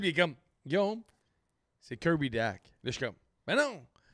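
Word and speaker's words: Kirby Dach: Puis assez de le prononcer comme faut. Kirby Dack. Exactement. Non, mais depuis hier, on fait des entrevues à Cogeco, 98.5, puis je suis comme, Kirby Back. Kirby Dash.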